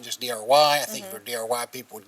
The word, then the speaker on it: Drye: it I don't know I think it's the fact that there's an e on the end this Dr y not just Dr y I think dry people